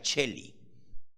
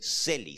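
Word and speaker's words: Celio: el esquilino número 5 el seli con c Aunque en italiano se pronuncia Chely pero es celi número 6 el monte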